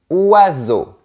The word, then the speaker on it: oiseaux: Le S entre deux voyelles se prononce comme un Z. EAU égale O. Et on ne prononce pas la lettre X à la fin.